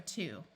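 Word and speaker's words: two: are to do and this word has a silent W so this word is also to this one refers to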